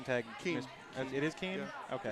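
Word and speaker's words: Kean: Keen. It is Keen? Yeah, okay. just like that. K-E-A-N. Yes. Keen. I think in New Jersey they pronounce it Kane.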